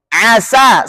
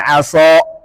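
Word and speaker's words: عَسَى: Asa, sin punya sifat infitah. Nah, berarti bacanya asa. Mengapa harus dibaca murni sifat infitah dua kata ini mahzuron dan asa, agar bacaannya tidak menyerupai bacaan mahzuron dan aso.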